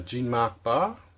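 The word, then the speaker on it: Jean-Marc Barr: uh gene renault um what is it uh jean mark barr that's how you pronounce it and rosanna arquette says she's sort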